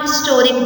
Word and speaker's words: historic: an over here a historic day over here h is pronounced historic starts with an h sound and h is a